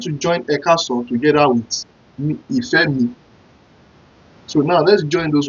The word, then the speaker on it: Ifemi: You know, how do you pronounce Ifemi? You know, Ife, Ife, Ifemi, Ifemi, I-F-E-M-I, Ifemi.